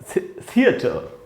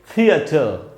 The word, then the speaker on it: theatre: इसको थोड़ा ठीक से, इसको थिएटर बोलते हैं अपने यहाँ, थिएटर नहीं बोलना है। क्या बोलना है इसको? थी के बाद आधा अ है थियर, ट के बाद आधा